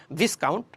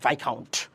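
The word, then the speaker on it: viscount: আমরা ডিসকাউন্টের সাথে মিলে মিলে পড়তেছি ডিসকাউন্ট, ভিসকাউন্ট, আসলে না, এটা উচ্চারণটা হচ্ছে ভাইকাউন্ট, ভাইকাউন্ট।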